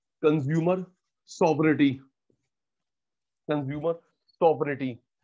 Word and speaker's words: sovereignty: शब्द होता है consumer सॉवरेनिटी, consumer सॉवरेनिटी, SOVE, GNTY, जी साइलेंट है, SOVEREIGNTY, जी साइलेंट है, सारा सॉवरिटी होता है पावर।